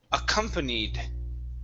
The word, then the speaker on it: accompanied: is accompanied right here so our stress is right in the middle accompanied accompanied very good very good